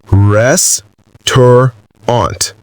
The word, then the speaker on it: restaurant: Eddie said now say it slowly. Rest aunt. Sam said rest aunt.